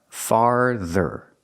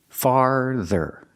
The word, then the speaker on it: farther: when you say farther you have a r it makes a sound R like car and bar farther the th has the voed sound Z farther not father make that R sound farther farther it means more